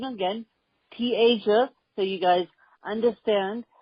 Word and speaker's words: Te'Asia: is like she said T Asia it's pronounced like T than the continent Asia and I am the